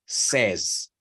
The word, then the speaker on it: says: Pero cuando está en pasado o en tercera persona, suena como con una E. O sea, said, y tercera persona, says.